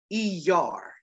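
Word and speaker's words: Iyar: are in is called the month of er er that is spelled i y a r e r all right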